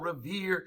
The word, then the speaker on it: Revere: midnight ride of paul revere see revere rhymes with fear near i mean so many